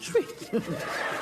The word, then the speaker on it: Twi: name yeah man it's spelled twi but it pronounced tree i want good language and make me tell